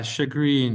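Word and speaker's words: chagrin: yes chrinag shagrin Yeah, she pronounce pronounce that g r i n like you would talk about a a smile. You're like, "Oh, he grin." Yeah. Shagrin.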